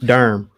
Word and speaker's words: Durham: the the durham locals y'all are saying durham wrong hey how are you gonna say it durham you don't pronounce the h they should just you drop the h to silent h checking it from durham